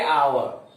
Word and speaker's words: hour: जैसे आवर लिखते हैं HOUR, लेकिन बोलेंगे आवर, H यहां साइलेंट है।